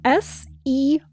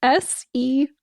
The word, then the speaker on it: serrurerie: in French, apparently for foreigners, is locksmith, and it's spelled S-E-R-R-U-R-E-R-I-E. So wait, hold on. Let me type this out. Let me type this out so I can get it. Okay. My answer is no. Okay. S-E-R-R-U-R-E-R-I-E.